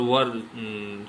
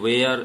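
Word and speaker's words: were: ऐसे फ्रेंड्स, शायद आपको कठिन लग रहा हो, मैं वज और वर शब्द यूज कर रहा हूँ, ये इसका करेक्ट प्रोनाउंसिएशन है। क्योंकि जो बिगिनर्स हैं तो वाज वेयर ऐसा बोलते हैं, लेकिन इसका करेक्ट प्रोनाउंसिएशन वॉज एंड वर होता है।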